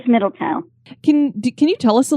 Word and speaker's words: Middletown: Is that how they say it, Middletown, or is it Middleton? It is Middletown.